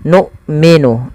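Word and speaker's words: نؤمن: Kemudian numminu bima sempurnakan dalam pelafalan huruf hamzah ketika ia sukun. Yang di mana hamzah di sini memiliki bacaan yaitu sifatnya salah satunya adalah sifat syiddah yaitu tertahannya suara dan yang kedua jahar tertahannya nafas kita. Jadi ketika kita melafalkan hamzah sukun harus ada dua sifat itu.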